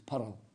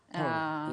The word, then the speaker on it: pearl: It's like we love it when he says pearl, because it's pearl. Pearl. It's the two syllables.